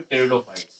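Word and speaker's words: Pteridophyte: अब आते हैं आपके थर्ड प्लांट किंगडम पे जिसका नाम है टेरिडोफाइट। देखिए टेरिडोफाइट्स की बात करें, अब भैया ये पी यहाँ पे साइलेंट होता है।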